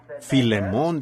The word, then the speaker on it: Filemón: la falta de Educación Así que Filemón dijo alguien allá atrás lo cual creo que es la pronunciación correcta Ahora el